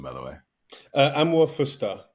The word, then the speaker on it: Amuah-Fuster: by the way uh am fer however it takes VAR deviations uh but yeah am fer am's garan and fer is I think Swiss uh which I think